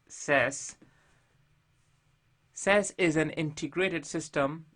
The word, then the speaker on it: SAS: 02 protraining docomo analysis system pronounced as sess SS is an integrated